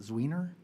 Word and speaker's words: Zwiener: Representative, I want to say it correctly, is it Zwiener?